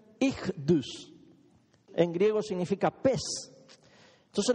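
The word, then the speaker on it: Ichthys: Esas letras en griego se pronuncian Ichdus.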